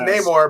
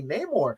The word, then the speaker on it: Namor: His name alone, his name is just Namor, but then they found a way to write it into El Niño Sin Namor.